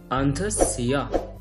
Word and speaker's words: অন্ধস্য: আলাদা করেছি তিমিট পাশে অন্তঃসিয়া। আমরা জানি জফলা উচ্চারণটা ই আ, অতএব এর উচ্চারণটা আসবে অন্তঃসিয়া, তিমির অন্তঃসিয়া।